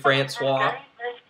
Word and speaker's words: Francois: Well, the Florida State quarterback, I can't remember how to pronounce his name. It's DeAndre Francois.